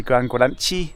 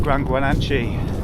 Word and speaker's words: GranGuanche: Anyway, 3 weeks from now, I'm going to be doing my first big ultra endurance event, the GranGuanche, that's how I'm pronouncing it.